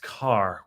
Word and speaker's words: Kerr: you never know um ker is pronounced Carr we are just a